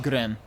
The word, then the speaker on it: Guren: They pronounce it Gren. With a U in it.